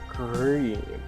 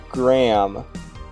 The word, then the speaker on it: Graham: I'm not going to pretend I know how to actually pronounce this, chat. Anna Green.